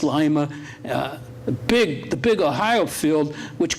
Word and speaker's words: Lima: Pam schooled me on the correct pronunciation because I was calling it Lima when I first came up here, but it's Lima.